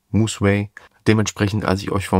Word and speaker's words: Musway: falsch ausgesprochen und zwar heißt das Museway und nicht Musway. Also der Name kommt von Music ist Way, also Mus und Way, Moseway.